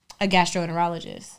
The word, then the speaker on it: gastroenterologist: Gastro. Enter. Ologist. And all together. Gastroenterologist.